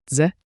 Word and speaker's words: дзе: Dze.